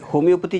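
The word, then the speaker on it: homoeopathy: कितने लोगों ने होम्योपैथी का शब्द सुना है? Very good, almost everyone. Yes. सो ये होम्योपैथी जो शब्द है उसका मूल अर्थ हम पहले जानेंगे. Okay? It is not HOMEO, it is HOMOEO.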